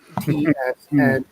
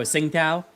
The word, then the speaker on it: Tsingtao: I don't know how to pronounce that. Tsningtao. Oh, Tsingtao.